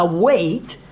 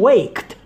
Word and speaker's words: weight: Dan kata weight, itu homofon dengan kata wait. Ya, yeah. Anyway, pengucapannya sama, homofon dong. Wait, tunggu. Wait, berat badan. Huruf G dan huruf H gak ada penggunaan dalam kata ini. Jangan bilang waked.